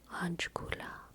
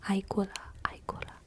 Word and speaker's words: Aikula: Ajkula. Alright, no, I said it wrong. Aikula. Aikula sounds to me like eye cooler, like an ice chest full of eyeballs.